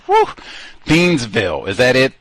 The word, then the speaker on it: Thiensville: They got all that Waukesha and all them wacky pronunciations. Woo! Thiensville. Is that it? Thiensville.